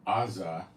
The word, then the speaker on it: Gaza: on the top of Gaza maybe at one time the wor part of Palestine and Aza where the heck is Aza Gaza that's Gaza that's that's a a Hebrew pronunciation for Gaza so that's Gaza and